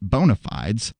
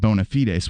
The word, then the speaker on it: bona fides: Bad Faith podcast that she prefers to pronounce it bona fides, though her co-host Virgil Texas said bona fides would be the proper Latin pronunciation. Seems like either is fine, but I go with bona fides because it's more fun to say.